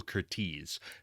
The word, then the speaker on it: Curtiz: thought it was Curtis my whole life, but it's Michael Curtiz, who also, Curtiz?